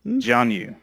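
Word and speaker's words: Jianyu: Gianu. Gianu. Janu. Gianu. It's spelled J I A N YU. So that's why. Gianu. Jan Yu. But not Gianu.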